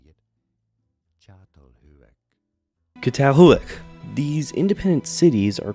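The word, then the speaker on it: Çatalhöyük: Catalhuic.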